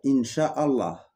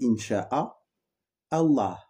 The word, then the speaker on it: Incha'a Allah: Par contre, Inch'Allah, il y a différentes façons de le prononcer pour en revenir. Il y en a qui vont dire Inch'Allah. Parce que à la base, le vrai mot, c'est Incha'a Allah.